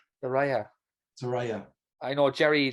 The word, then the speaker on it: Saraya: Anyway, how do you pronounce her name? Saraya.